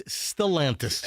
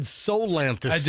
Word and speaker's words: Stellantis: No, it's Stalantis. Am I saying it wrong? Stalantis. Stalantis. You said Solantis.